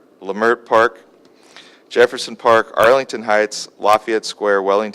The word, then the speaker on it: Leimert Park: communities of Leimert Park today I pronounced that right lemare Park Jefferson Park Arlington Heights